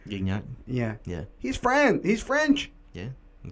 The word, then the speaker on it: Gignac: Look at Niñac, bro. That's not even how you pronounce his name, but Gignac.